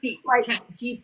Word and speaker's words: GPT: I don't even use chat GBT. I was saying it wrong. Is it PT or BT? I don't even know. G PT. PT. I thought it was a B.